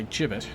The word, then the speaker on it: gibbet: having passed a nearby gibbet she had remarked on it being fluent in the golden language as I am I corrected her in her pronunciation begins with a harsh sound not a soft one obviously oh so my